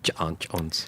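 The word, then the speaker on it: J'onn J'onzz: been John Jones yeah there's apostrophes ignore those alright well of course it is John Jones anyway anyway do we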